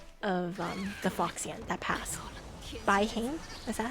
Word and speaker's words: Bai Heng: Bai Heng? Is that how you pronounce it?